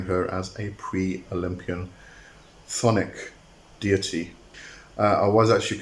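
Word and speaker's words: chthonic: as a pre- Olympian thonic deity uh I was actually corrected on on the pronunciation it's not cthonic it is actually thonic um the CH is very very silent it's it's it's almost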